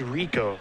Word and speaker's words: Rekow: That is Rekow, is how his last name is pronounced.